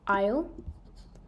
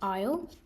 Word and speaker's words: Isle: here for question 36 Isle that word's hard to spot because it's got that um silent letters in it Isle the aisle of man